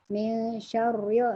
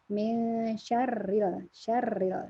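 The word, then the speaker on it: شَرِّ: Jadi bacanya min syarril waswasil khannas. Jadi kalau bacanya nggak boleh tebal jadi min syarr. Nah, kadang-kadang mungkin min syarril. Nah, itu salah. Jadi min syarril, dia tipis syarril.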